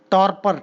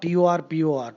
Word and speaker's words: torpor: Torpor, Turpor, topper, as usual the R is silent.